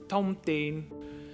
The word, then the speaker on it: thông tin: It's pronounced thông tin. Remember that TH is aspirated, while T on its own is unaspirated.